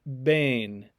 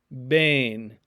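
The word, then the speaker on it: בין: see in the word bane bane it's kind of like the e sound in obey in english bain meaning between or among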